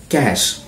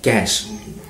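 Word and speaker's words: cache: kitchen in the shop number 11 cash c-a-c-h-e c-a-c-h-e cash c-a-c-h-e cash cash means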